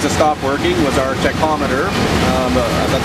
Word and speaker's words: tachometer: One of the other things that stopped working was our tachometer, that's how you pronounce it, the thing that measures our RPMs.